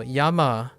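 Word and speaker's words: 山: the top is Yama so Yama is how you would go about pronouncing this regardless of pitch accent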